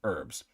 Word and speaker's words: herbs: We pronounce it herbs.